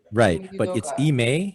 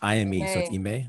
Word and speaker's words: Ime: mike d'antoni he has eme it's i ime but i've never heard it yeah so i don't know how to pronounce it it's i am okay there you go